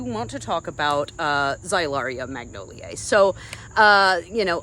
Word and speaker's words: Xylaria: name for this is xylaria Magnolia so it's x y l a r i a in case you're interested so it's one of those X's that's a z uh phonetically but this is a